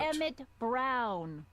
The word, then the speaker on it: Emmett: Emmett Brown. Rhymes with clown, which I'm beginning to think you are.